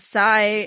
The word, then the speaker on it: Psi: yeah yeah um and Sai is like a cyborg haha that's why his name sigh um except it's it's annoyingly spelled PSI yeah like the